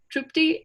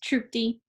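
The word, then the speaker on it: Tripti: which will be by tripty and abigail and uh correct me if i said your name wrong uh yeah it's troopty great and they will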